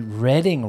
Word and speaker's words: Reading: Reading PA where we learned how to properly pronounce Reading Railroad on monopoly he's actually Reading Railroad and I feel like my entire life